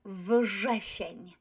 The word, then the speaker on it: wrzesień: Ż is voiced, therefore wrzesień. wrzesień. There's nothing wrong with r here. We pronounce it as we see it. R. So wrzesień, wrzesień. But wściekłe, not wściekłe.